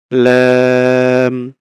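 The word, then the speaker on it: لام: লাম হচ্ছে জিহ্বার আগার কিনারা জিহ্বার আগার কিনারা সামনের উপরের দাঁতের মাড়ির সঙ্গে লাগিয়ে ২ পাশের যেকোনো এক পাশে আমরা দাঁতের মাড়ির সঙ্গে লাগিয়ে এই যে ২ পাশে আমরা এখানে দেখতে পাচ্ছি যেকোনো এক পাশে চাপ দিয়ে আমরা উচ্চারণ করতে পারি। ল্যাম, ল্যাম, ল্যাম, ল্যাম এরকম।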